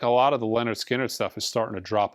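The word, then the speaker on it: Lynyrd Skynyrd: analog Productions 45 RPM of Leonard skinnard pronounced Leonard skinnard uh also on my top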